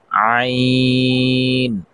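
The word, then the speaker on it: عين: সঙ্গে লাগাইয়া ওখান থেকে উচ্চারিত হয় ভ ত আইন আইন চাপ দিয়ে পড়তে হবে।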